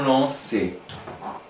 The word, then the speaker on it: lançait: Voilà, devant A, O, U, le C qui se prononce, prend une cédille.